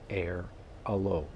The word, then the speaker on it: Airalo: Now, next, what you need is a service called Airalo, A-I-R-A-L-O.